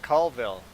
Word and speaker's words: Colville: not polite about it it's spelled c-o-l-vel and the question that i got asked do you see any coal around here it's like i don't see any call around here either it's funny how people